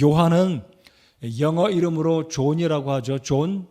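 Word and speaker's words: John: 영어 이름으로 존이라고 하죠 존 또 어떤 영국식 발음으로는 아 발음을 해서 잔이라고도 하는데요이 요한의 헬라어 발음으로는 이요한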